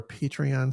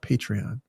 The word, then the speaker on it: Patreon: And a thank you again to our Patreon sponsors. By the way, look, I have fully changed over to pronouncing it correctly. Patreon.